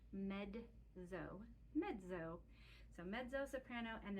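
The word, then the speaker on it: mezzo: medzo means medium and it looks like Mezo because it's m e ZZ o but the word is pronounced medzo medzo so medo soprano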